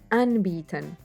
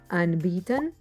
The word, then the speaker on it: anbieten: you a handy verb used to offer things unbeaten an b 10. e is always pronounced like a long slow e unbeaten is a separable verb meaning to offer or